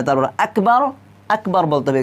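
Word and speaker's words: أكبر: আকবার আকবার বলতে হবে এখানে আপনারা গাফ লাগিয়ে দিতে পারবেন না গাফ শুধুমাত্র উর্দুতে চলে আসে গাফ হ্যাঁ কিন্তু আরবিতে কিন্তু গাফ দেওয়া নেই তো এটা কি করতে হবে আকবার আকবার কাফ উচ্চারণ করে পড়তে হবে তো আপনাদেরকে আমি সুন্দর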